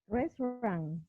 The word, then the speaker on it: restaurant: a restaurant To eat in a. to eat And Lil, how do you pronounce this word? restaurant Only 2 syllables. Remember, restaurant, restaurant, restaurant.